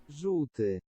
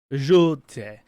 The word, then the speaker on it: Żółty: It's really hard for it's notorious for English people not to be able to pronounce. It's this word. Żółty. Żółty.